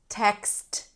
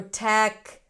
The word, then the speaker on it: text: Now, let's look at other clusters at the end like text. Text text. If it's hard for you and you hear something like text or tech, then really focus on the three sounds.